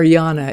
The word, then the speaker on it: Jana: listening to Jana's laugh, or Yana is actually how she pronounces her name.